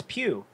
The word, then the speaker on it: Pugh: Pugh.